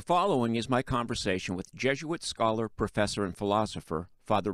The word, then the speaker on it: Jesuit: Correct me if I never know how to pronounce Jesuit. Sometimes I want to go zh, and sometimes I want to go zzz. Okay, it's Jesuit. It's not the Z.